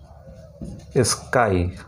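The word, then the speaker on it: sky: এসকে ওয়াই, স্কাই, এটা কিন্তু স্কি উচ্চারণ হচ্ছে না, যেমন একটা ফ্যান্সি, ফ্যান্টাসি, ই উচ্চারণ হচ্ছে, ই সাউন্ড হচ্ছে, কিন্তু এখানে কিন্তু স্কাই, আই উচ্চারণ হচ্ছে কিন্তু এখানে স্কাই।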